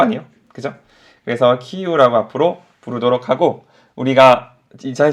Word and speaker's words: 키이우: 키예프가 아니라고 하더라고요. 어느 순간 키예프란 말이 싹 사라지고 다 키이우라고 바뀌었죠, 그죠? 왜냐면 우크라이나 발음이 키이우래요. 키이우라고 하더라고요. 키예프는 러시아 측에서 그 도시를 부르는 이름이 키예프고, 우크라이나 사람들이 자신의 도시를 부를 때 이름은 키이우이기 때문에 지금 모든 언론들이 다 처음에는 키예프라고 부르다가 키이우로 바꿔 부르죠.